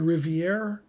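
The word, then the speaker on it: Rivière: every time okay morphy's white he's playing the Rivier that's how you pronounce his name uh in 1863 this was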